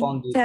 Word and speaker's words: candidat: ও বেশি থাকবে এটা তখন উচ্চারণ হবে মানে কন্দিদাত, ফেমিনিন।